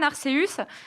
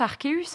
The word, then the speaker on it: Arceus: Lui et moi, on prononce Arceus. Hein, je suis désolée, hein, à la latine. Hein. Moi aussi. Je prononce Arceus maintenant parce que je me suis trop fait engueuler dans le chat des Amis Bro, parce que de toute façon, tout le monde gueule. Donc voilà, Arceus, mais on est d'accord, c'est à la latine que ça se prononce.